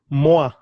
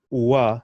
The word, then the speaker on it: mwa: MWA is another 3 syllables there. Moi, moi. Very, very. It's not wa. It's moi. 1 syllable.